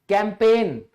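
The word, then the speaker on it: campaign: अब इसी तरह अभियान, कैंपेन, साइलेंट है।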